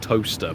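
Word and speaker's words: Towcester: toaster yeah there's a there's a UK town called toaster but it's not spelled like the appliance he's got a w in there it's where Mark originally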